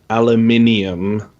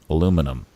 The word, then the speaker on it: aluminium: Well, we spell it differently. Oh, do you? Yeah, we have an extra I in it. You don't, for some reason. Aluminium? Mm-hmm. Okay. Aluminium. Aluminum.